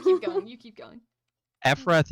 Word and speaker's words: Ephrath: Ephrath is Efrath. Hold on, I'll spell it in the chat. I think it's EPH, but I could be wrong. It's EPHRATH. No. Yeah. Like a weird if your crack ship was Ephraim and Wrath.